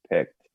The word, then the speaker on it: picked: pickled peppers peter piper picked excellent very good same thing actually make sure you remember the ed and really pronounce the ta in picked okay remember now in